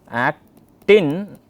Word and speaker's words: actin: remember which is which at-tin is thin then the other one is thick and myosin stick so actin rhymes with thin okay that's how you